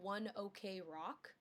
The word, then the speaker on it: ONE OK ROCK: It's spelled one OK rock, Okay. but I saw an interview a long time ago of them saying it's one ok rock because they used to practice at 1 o'clock, and in Japan they